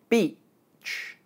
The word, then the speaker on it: beach: As you can hear, they're not pronounced the same way. But what exactly is the difference? Listen again. Beach. Bitch. Beach. Bitch. Both words start with the sound b and end with the sound ch.